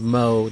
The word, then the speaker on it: Mohs: I remember it because of Mo, the bartender from Simpsons, but it's spelled M-O-H-S.